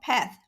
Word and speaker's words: 趴: The component part of the Chinese word 趴 is 八, which means 8 in English. The component provides a clue to the pronunciation of the character 趴.